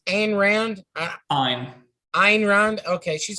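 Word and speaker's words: Ayn: so talk to me about uh is it pronounced and rand i'm ein okay she's like she seems like she's german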